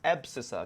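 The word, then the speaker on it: abscissa: ये जो Y axis की जो लाइन है ना बेटा, इसको हम लोग बोलते हैं एब्सिसा। क्या बोलते हैं बेटा, एब्सिसा, एब्सिसा। ठीक है, एब्सिसा। आप इसको इसका जो स्पेलिंग है वो चेक कर लेना, गलत भी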